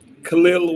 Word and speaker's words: Kel'el: We need a first-name pronunciation. Kel'el Ware.